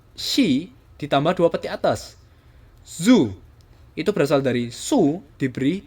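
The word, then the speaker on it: づ: diberi dua peti atas Zu ini dzu Ini penulisan keyboard ya Tapi bacanya Zu Zu itu berasal dari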